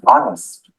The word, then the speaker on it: honest: Halfpenny is how you pronounce halfpenny. G as in sign. H as in honest.